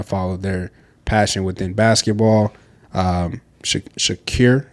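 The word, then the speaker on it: Shaqir: Shakir, that's how it's pronounced.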